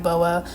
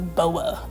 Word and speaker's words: Boa: I like Hiss and I like Boa. I was like pronouncing Boa wrong. I was just saying Bo. I didn't realize that it was Boa, you know, like boa constrictor.